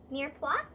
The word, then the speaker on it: mirepoix: then you can also use what is called mirepoix it's french it's spelled m-i-r-p-o-i-x and it's carrots onions and celery